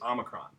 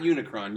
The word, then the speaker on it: Omicron: short Oh which is Omicron Omicron not Unicron Unicron is a villain in the transformer universe but on Omicron it's not Omicron is a Greek letter so Omicron is a short o sound okay stop okay